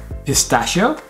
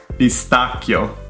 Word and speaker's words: pistacchio: Pistacchio. Pistacchio.